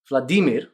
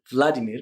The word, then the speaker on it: Vladimir: to Russians for example can you say this particular World Leader's name well I hope you said Vladimir rather than Vladimir because that is the